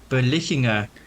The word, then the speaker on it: Berlichingen: It was like Hans yeah, you like left Berlicher? out an entire syllable. It was like Berlichinger.